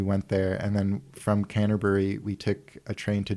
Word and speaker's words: Canterbury: So I wanted to ask him, and I heard English people pronouncing it Canterbury, like they dropped the bury.